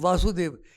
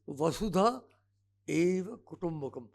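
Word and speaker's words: वसुधैव कुटुम्बकम्: Many people mispronounce it, particularly here in Delhi. कोई वासुदेव कहता है, nothing to do with Vasudev. It's Vasudha Eva Kutumbakam.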